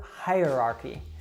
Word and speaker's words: hierarchy: possibly say that word so you probably know the word high like something is up high as opposed to low and then if you want to say the comparative that higher so it's very similar to that so you'd say higher archie hierarchy something else that can be